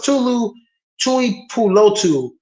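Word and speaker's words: Tuli Tuipulotu: who I really love, Lofi I can't even pronounce his name. Lee. What's it? Tulu? No, it's Tulu Tui Pulotu, defensive end from USC.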